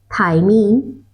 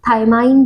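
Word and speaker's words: thymine: Pronunciation का अंतर है, एडिनाइन भी पढ़ते हैं, गुआनाइन भी पढ़ते हैं, और मतलब आप थाइमाइन भी पढ़ते हैं कुछ लोग, तो ये प्रोनाउंसिएशन का डिफरेंस है। इन जनरली क्या होता है,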